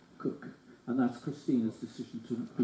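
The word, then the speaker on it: Koch: about the pronunciation and she does I'm pleased to say pronounce it cook and that's Christina's decision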